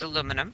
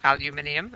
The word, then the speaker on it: aluminium: go to the periodic table that means it's aluminum or aluminium as the British say so that means it has 13 electrons